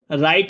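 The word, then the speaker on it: write: window खिड़की would लकड़ी राइट लिखना राइट है बच्चों इसमें डब्ल्यू साइलेंट है हमारा ठीक है याद रखना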